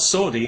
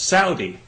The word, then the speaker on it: Saudi: have said to me you know you're you're pronouncing that wrong it's not Saudi it's Saudi well okay fair enough I'm happy to pronounce